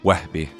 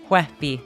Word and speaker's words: Wehbe: Wehbe. Wehbe. Wow, that was pretty good. Yes. Yeah, you just need more like nailed that it. spit in your throat, you know? It's like the Wehbe, you know?